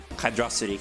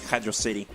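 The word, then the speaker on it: Hydrocity: I really I like I flipflop on the pronunciation on you know hydrosity Hydro City I really I really don't care whichever one like comes to mind at the time is the one that I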